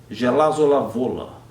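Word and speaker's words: Żelazowa Wola: 20 anos para descobrir como é que se pronuncia Gelol vola é uma cidade dessas tão pequenininhas que seria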